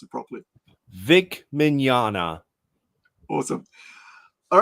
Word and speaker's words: Mignogna: just call him V but you you can pronounce it properly Vic minana awesome all right so thank you guys for